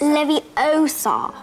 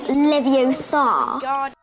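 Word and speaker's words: Leviosa: is it Emma Watson you're saying it wrong it's Levy Oar not levio now it sounds weird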